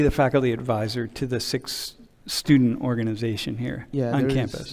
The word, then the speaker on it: Sikh: I pronounce it as Sikh, Sikh. that KH sound at the end.